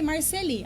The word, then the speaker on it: Marcely: Ele disse meu nome, Marceli. Aí a sala toda o corrigiu. E ele deu uma aula de francês, de por que o meu nome se pronunciava daquela forma, que nunca mais ninguém o questionou, muito menos eu.